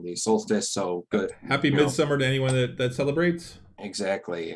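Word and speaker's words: Midsommar: prepared watch the movie mid-summer uh or midsomar as it is more more as it more looks like at the way it's spelt it is an excellent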